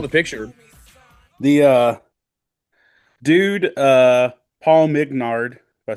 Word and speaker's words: Mignard: The dude, Paul Mignard, if I said his name right, or Mingard, I'm always going to say it wrong. Hold on, I can read it right back here. Mignard, I said it right.